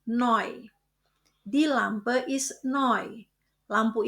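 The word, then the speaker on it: neu: Ingat kombinasi huruf E U dibaca oy. Jadi bukan new tapi noy.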